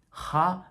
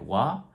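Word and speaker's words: は: little bit more softened so ha became more like wah and then hey became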